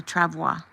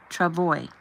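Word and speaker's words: travois: The next thing I knew, I was on a Travoa. Travoy. No, Travoy. That's that's how you say it.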